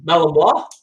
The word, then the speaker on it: Malinois: Yep, Malinois. Malinois. It's sort of spelled like Malinois, but we say Belgian Malinois.